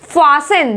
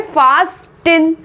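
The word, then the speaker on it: fasten: फिर फासन, लिखा क्या है? फास्टिन, फास्टिन, लेकिन हम यहाँ क्या पढ़ने वाले हैं? फासन, फासन।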